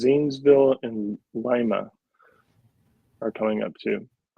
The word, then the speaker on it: Lima: It's Lima, but I heard somebody the other day be said something like, "Oh yeah, go over to Lima." I'm like, "That's the pronunciation of it in Peru, but not in Ohio."